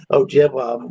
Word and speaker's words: Ojibwa: carrier was telling me it was pronounced Odawa and Ojibwa, like in the more proper pronunciation.